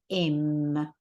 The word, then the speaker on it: hemm: the front Okay but because it's silent in this case we pronounce it as m that means there then